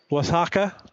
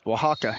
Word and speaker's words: Oaxaca: He has his mission call, Mexico, Oaxaca. Oaxaca. Oaxaca, dang it. You're close. Oaxaca. It's hard for me to say as well. Mexico, Oaxaca, spelled with an O and an X. Very confusing.